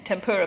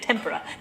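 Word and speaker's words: tempera: started writing this book, I pronounced it as tempura paint. And Jill Burke very nicely said, actually, that's deep-fried Japanese vegetables. So I had to learn to say tempura paint.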